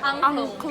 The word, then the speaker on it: angklung: Angklung.